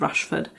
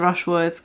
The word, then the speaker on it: Rushworth: rush brush brush Worth I always get his name wrong I won't know how many times in this video where he said Rushford anyway she's married to mr. Rushworth kind of against her